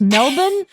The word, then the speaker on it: Melbourne: first hold on melbourne australia is pronounced melbourne melbourne wow i've learned something today